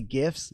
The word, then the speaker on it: GIF: So I could take GIFs or GIF. whatever you call it, dude. It's a GIF. It's a hard G, man.